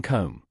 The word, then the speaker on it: comb: is silent in knife B is silent in comb p is silent in